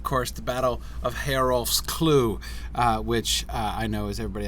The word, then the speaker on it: Clough: actually it had a pronounced clue I think it's clue it could be cloth for all I know but it's from the anglo-saxon word coal so I think it's I think it's probably clue rhymes with Slough right SL ough meaning like